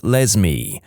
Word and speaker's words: Lesme: My mom is a public school librarian, and the cringiest name she's encountered so far is a girl named Lesme, pronounced like Leslie but with an M.